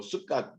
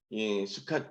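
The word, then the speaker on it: סוכות: 저는 이제 수캇 이렇게 얘기 안 하고 숫갓 그래서 좀 더 강하게 발음하는 편인데 숫갓 미나리의 숫갓이 아니고 수캇 그러면 혹시 뭐죠?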